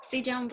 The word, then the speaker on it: si jambo: And the response can be, you can say back jambo or si jambo. Jambo, si jambo. Someone try that? Someone? Jambo. Si jambo.